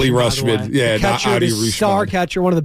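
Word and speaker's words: Rutschman: their home run derby adley rushman is the pronunciation rushman star catcher one of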